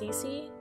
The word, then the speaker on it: Cissy: got is from i guess her name is pronounced cece i never realized that i always called her